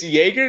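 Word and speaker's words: Jaeger: how it's spelled oh because it is j AE g AR Jager oh my god yeah wait a second it's Jager not Jake or anything anyway um but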